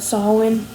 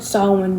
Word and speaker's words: Samhain: And Bodkin is about, I forgot how they said it, but Samhain, a city called Samhain or something like that in Ireland.